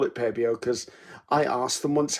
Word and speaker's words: Pebeo: I call it Pebeo because I asked them once how to pronounce the name, and that's how they told me to pronounce it.